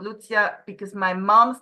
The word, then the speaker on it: Lucia: Both are equally great. You know why? Because Lucia is how they call me in Switzerland. Even though I'm Swiss German from Zurich, it would be Lucia.